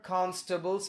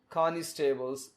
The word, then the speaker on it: constables: And look at this word constables. Most of us say constables. That's a wrong pronunciation. We should say constables. Cons, C-O-N-S, and then table. Look at the word table in it, T-A-B-L-E-S, tables. Constables.